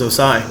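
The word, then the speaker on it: Ossai: guy that's going to shock the world is osai defensive and out of texas yeah that's how you pronounce that um yep good old osai um and then we also got the number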